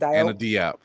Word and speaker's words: Diop: Anna Diop.